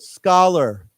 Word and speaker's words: scholar: academic academic and then that word scholar remember it has a k sound scholar scholar okay so